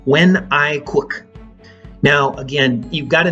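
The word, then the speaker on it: Quốc: In Paris, he had the name Wen I Quoc. Now, again, you've got to know that the spellings of these names are very different than they sound. So Wen, N-G-U-Y-E-N, Wen, and Quoc, Q-U-O-C.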